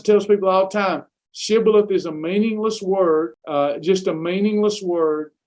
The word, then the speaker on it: shibboleth: they cannot pronounce it they would say sybileth instead of shibboleth because they their dialect they couldn't pronounce it so they would then